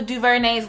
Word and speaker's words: DuVernay: Selma, the movie, don't move me so much, I done even looked up how to correctly pronounce Ava DuVernay's last name.